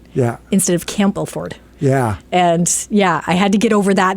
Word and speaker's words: Campbellford: cample for campel for the P still is silent but if you talk if you speak to someone from Campbellford yeah that's how it is camford yeah instead of Campbellford yeah and yeah I